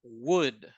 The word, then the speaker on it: would: La palabra se pronuncia would, would, would. Entonces, si ustedes tienen que imaginársela cómo se pronuncia así, W-U-D, más o menos, ¿verdad? Would, would. Ahora, la L no suena, ¿verdad?